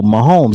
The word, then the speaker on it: Mahomes: about this I think it rhymes with domes Gomes oh Mahomes yeah Patrick Mahomes he's